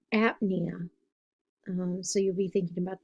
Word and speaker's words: apnea: it's right underneath plasm the P is silent so it's it's dyspnea or apnea so you'll be thinking